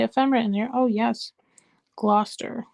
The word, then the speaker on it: Gloucester: Gloucester is how it's pronounced.